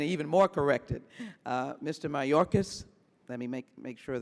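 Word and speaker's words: Mayorkas: right it is Mr it's Mr mayorcas and I come from a long line of bad spellers it's Spanish name Spanish all right then I stand even more corrected uh Mr mayorcas let me make make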